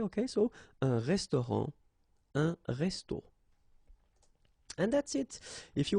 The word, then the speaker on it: resto: okay, but then, well, phonetically it's exactly the same, so un resto, okay, so whether with O or then with AU, but then it's resto, resto, the same way, okay, so un restaurant, un resto.